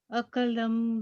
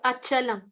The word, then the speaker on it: Achalam: It's Achalam. Achalam dhruvam. Yeah. Yeah, I understand that when they write it in the Roman script, when they write it in English, some of the words, the pronunciation for some of the words can become confusing. But that's how it is pronounced in Sanskrit.